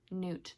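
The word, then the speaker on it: Gnewt: love him I think his name is Newt spelled with a G g-n-e-w-t Newt The Gnome so this is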